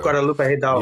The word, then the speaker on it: Guadalupe Hidalgo: of the Treaty of, what I'm going to mispronounce it, something Hidalgo. Guadalupe Hidalgo.